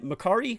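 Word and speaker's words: Mercari: Poshmark here and then marari I think is how you pronounce it this one here is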